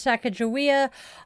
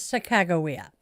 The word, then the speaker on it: Sacagawea: I know so many people who mispronounce her name as Sacagawea. I was corrected by one of her descendants. It is Sacagawea. And today we honor Sacagawea, an indigenous woman whose knowledge, courage, and guidance